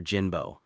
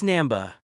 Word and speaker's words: Namba: Namba, Professor Jinbo. It's Namba. I'm sorry, Dr.